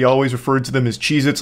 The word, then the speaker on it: Cheez-It: Cheez-Its, and I'm still saying it wrong. Cheez-Its never existed. They have always been Cheez-It, not plural.